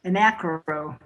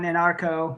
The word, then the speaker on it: Anacro: I'm close. Anacro. It's a play on anarcho, but I use anacro, which I know I've only had 2 people catch that so far.